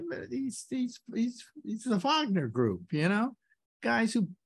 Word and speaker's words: Wagner: Wagner yeah and also in that part of the world it would be pronounced with a V uh so it's Wagner but I mean this